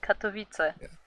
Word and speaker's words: Katowice: As a resident Polish player, Katowice. Katowice. Yeah, Katowice. Oh god. Is it Miami Vice or what? But yeah, Kuro, you pretty much regularly attend Katowice, and yeah, you can say regularly because I